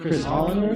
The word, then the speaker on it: Hollander: I'm here with Chris Hollander. Is that how you pronounce that?